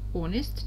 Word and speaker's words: honest: Honest, честный. Буквы H we don't pronounce.